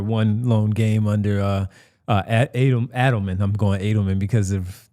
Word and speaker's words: Adelman: couple months in like, oh yeah, it's Adelman. That's how you say it.